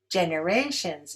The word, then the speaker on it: generations: Generations is stressed on the third syllable.